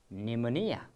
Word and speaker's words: pneumonia: Do we pronounce with pa? Not exactly, okay? That pa is silent, so it is pronounced as pneumonia. Pneumonia is the correct pronunciation of this word.